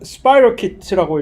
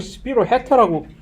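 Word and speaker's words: spirochete: 원래 원어가 스파이로키트라고 이렇게 발음을 하는 건데 스파이로키트. 왜 이것을 스피로헤타라고 스피로헤타?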